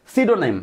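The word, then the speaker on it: pseudonym: লুকায় রেখে এই ছদ্দনাম ছদ্দনামের ইংলিশ এখানে হচ্ছে সিডোনেম হ্যাঁ সিডোনেম পি এর উচ্চারণ এখানে হবে না পি এস ই ডি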